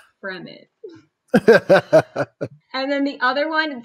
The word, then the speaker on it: Fremen: one is the fremen i thought for sure it was like freeman two e's uh which i was like hey it makes sense like they're roaming the desert and they're free like the freeman and my mom had to like gently steer me and be like from it and then the